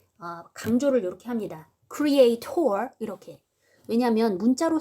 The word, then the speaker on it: creator: 여기 원래 강세가 가는 건 아니에요. creator 이렇게 중간에 강세가 가야 되는 게 정상이긴 한데 인간과 창조자를 구별 지어서 말해주고 싶을 때 강조를 이렇게 합니다. creator 이렇게.